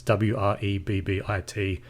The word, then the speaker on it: Wrebbit: Rebbit, like I said, is spelled with a W. It's Wrebbit. Just Google that.